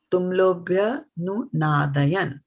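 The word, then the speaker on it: tumulo 'bhyanunādayan: So sometimes we pronounce it like I did it just now, tumulo bhyanunādayan, right? And that is not the right way. Tumulo bhyanunādayan, right? So bhya covers this much.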